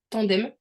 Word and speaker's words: Tandem: j'avais regardé sur tandem je le prononce à la française tandem tldm parce que en